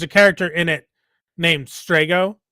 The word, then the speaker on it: Strago: And you can have those obstinate people who be like, "It's Strajo." No, it's not a soft G. It's not a J. It's a hard G. It's strago.